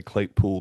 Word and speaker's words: Claypool: commercial for me and he pronounced my name Clay Pool. He like really really had that, you know. So Clayools say it Clayool. Clayool, but I I kind of say Clay Pool now.